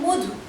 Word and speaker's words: মধু: আমি একটা শব্দ বললাম মধু, ময়ের পরে অ আছে, কিন্তু এখানে ময়ের উচ্চারণটা, ময়ের পরে অয়ের উচ্চারণটা ওয়ের মতন হয়েছে, তাই না?